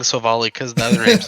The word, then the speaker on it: Silvally: picking up silver silvalley the anime has confirmed we pronounce it silvally I'm so I'm still saying so volley because the other name's